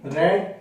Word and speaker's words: read: participial this read three red three so we pronounce it differently in past tense but the spelling of read in all these forms are same ah really it is